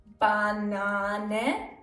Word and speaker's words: Banane: A can be pronounced long. A as in Banane.